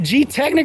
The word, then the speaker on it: Gtechniq: different names and whatever is it g Technic or G technique say G Technic in the United States that's what I thought okay yeah so if you're British G technique but if you're from